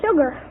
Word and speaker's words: sugar: who wants you to name two common words in the English language that begin with Su but which are pronounced as if they started with SH uh pack well there's sugar Sugar's one they think